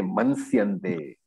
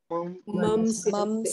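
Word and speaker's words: मंस्यन्ते: So I thought I heard somebody say mansyante. What is the correct pronunciation? Mamsyante. Why is mamsyante correct pronunciation? Anuswara is followed by sa. Sa varga. Okay, so it has to be mam and not man.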